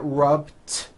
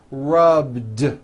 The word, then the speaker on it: rubbed: voiced so for example the word rub ends with a voice to be rub today I rub yesterday I rub all I did was was add a voiced D sound at the end rub it's not rubbed with an unvoiced T it's rubbed like that here's another example clean